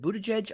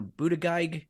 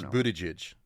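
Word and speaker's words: Buttigieg: I get it but how do you say his name is it Buddha judge I've heard it you know Buddha geig I've heard I don't think it's bootage okay everybody pronounces it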